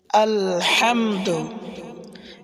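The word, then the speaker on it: الحمد: আলহামদু, এখানে বড় হা, হামদু, গলার ভিতরে হালকা চাপ দিয়ে তারপরে বলতে হবে আলহামদু। যদি কেউ বলে আলহামদু, অনেকে বলেও থাকে আলহামদু ছোট হা দিয়ে, তাহলে নামাজ হবে না, অর্থ পরিবর্তন হয়ে যাবে।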